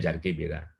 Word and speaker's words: Jarque-Bera: Jarque-Bera, bacanya Jarque-Bera ya.